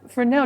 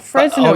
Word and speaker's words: Fresnel: Frenel and I was like oh it's it's pronounced Frenel not Fresno.